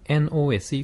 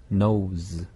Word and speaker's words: nose: NOSE 코라고 할 때 여기도 스펠링을 보면 SE가 SE. 있지만 네. 발음은 Z 발음입니다. 그래서 nose.